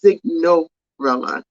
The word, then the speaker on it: Signorella: And then I also want to go ahead and shout out to John Signorella. I have to say it right because I want to say Cinderella, but it's not. It's Signorella.